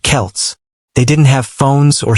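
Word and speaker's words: Celts: The people who lived there were called the Selts, pronounced Kelts.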